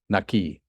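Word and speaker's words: נקי: Pronounced with a K, Naki. instead of a Q.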